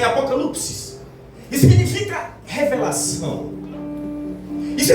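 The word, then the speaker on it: ἀποκάλυψις: Alguns versículos são citados no aramaico, pouquíssimos, mas o Novo Testamento foi escrito em grego com e a palavra apocalipse, no seu original, a pronúncia é apocalipsis, significa revelação.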